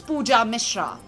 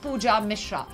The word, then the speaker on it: Pooja Mishra: My name is easy and simple. It's Pooja Mishra. Like I said, not any of those, which I said earlier, but Pooja Mishra.